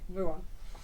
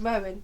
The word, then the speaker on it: Ruan: So it's a U because it's a U rather than an O.